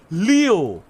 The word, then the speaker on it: Leo: Leo Aya no Koji it's written with the kanji for lion you'll be sure it's pronounced Leo hi wager you are